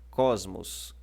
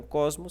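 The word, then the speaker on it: κόσμος: E aqui nós temos a separação de cos, primeira sílaba, e que é a penúltima da palavra, e a sílaba mos, tá ok? Que é a última sílaba da palavra. O acento está na penúltima.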